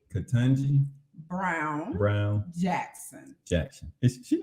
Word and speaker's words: Ketanji: Ketanji Brown Jackson.